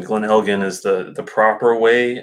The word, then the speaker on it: Glen Elgin: look at the pronunciation Glen Helghan is the the proper way I know some Americans do Elgin which is more of that soft J sound but uh from what